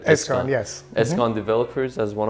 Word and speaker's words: Eskan: Eskan, yes.